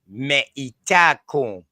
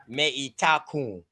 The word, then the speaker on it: Metacom: Let me pronounce that the right way. Meitacom. That's how we would pronounce that. Meitacom.